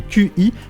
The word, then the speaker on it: Qi: On parle de chargement Qi, ça s'écrit QI, mais ça se prononce Qi.